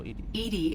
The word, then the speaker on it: EDI: you named edie oh edie is the phonetic pronunciation of edi that is an acronym for enhanced defense intelligence